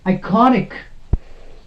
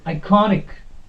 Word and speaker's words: iconic: penalty made syllable okay iconic the correct pronunciation of this word is iconic not iconic no that is wrong iconic okay then we have